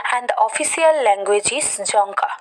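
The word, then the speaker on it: Dzongkha: the official language is janka not d zonka the silent of the the pronunciation of the d is silent that is jonker nepal kathmandu and nepali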